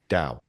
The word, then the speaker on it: dao: shows the character is pronounced with a sound that is not quite in English T or D. It's it's an unaspi unaspirated T sound meaning there's no puff of air released between pronounces dao. Yeah, the sound is like cow or down.